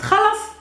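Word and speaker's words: خلاص: means exactly the same also in hebrew it's pronounced khalas and also in hebrew now in arabic it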